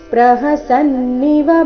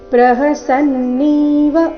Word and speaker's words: ಪ್ರಹಸನ್ನಿವ: ಫ ರೀತಿ ತಮುವಾಚ ಋಷಿಕೇಶ ಪ್ರಹಸನ್ನಿವ ಭಾರತ ಇಲ್ಲಿ ಪ್ರಹಸನ್ನೀವ ಈ ರೀತಿ ನೀನ ದೀರ್ಘ ಮಾಡಬಾರದು ಪ್ರಹಸನ್ನಿವ ಶಬ್ದದಲ್ಲಿ ಎಲ್ಲಾ ಅಕ್ಷರಗಳು ರಸ್ವ ಇವೆ ಭಾರತದಲ್ಲಿ ಭಾತ್ರ ಮಹಾಪ್ರಾಣ ದೀರ್ಘ